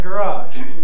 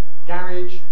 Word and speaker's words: garage: going up that's for those who make garage rhyme with marriage and carriage and that's clearly the most popular pronunciation among young people coming in the blue line is my pronunciation garage or garage with a strong vowel in the second syllable i'm stressed green line at the bottom is final stress as in american english garage or garage